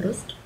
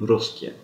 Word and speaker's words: русских: Мы любим русских. Мы любим русские.